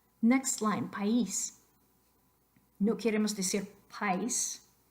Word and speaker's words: país: Acento escrito sobre I, país, país.